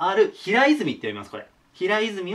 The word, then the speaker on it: 平泉: つ寺ですねほにゃらら字のある平泉って読みますこれ平泉は世界遺産